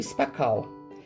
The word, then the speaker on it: Spacal: Chamava-se Olaria do Spacal. Era assim que se pronunciava.